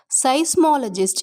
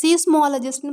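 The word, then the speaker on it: seismologist: சைஸ்மாலஜிஸ்ட், இதை சீஸ்மாலஜிஸ்ட்னு ப்ரொனவுன்ஸ் பண்ணக்கூடாது.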